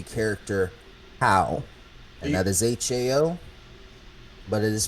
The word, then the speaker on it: Hao: introduction to the character Hao, and that is Hao, but it is pronounced Hao, Who Yep.